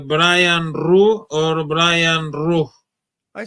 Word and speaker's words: Ruhe: pronounce your name Brian Ru or Brian Ru I said say Brian Ru Ru yeah it's the German it's a German name is pronounced Rua but my family just says ru are you of German